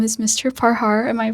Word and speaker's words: Parhar: Parhar. Am I pronouncing your name right? Yes, you're Parhar.